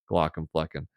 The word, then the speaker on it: Glaucomflecken: and so I went with a much easier pronounce Glock and fleen yeah I was Anonymous for a while was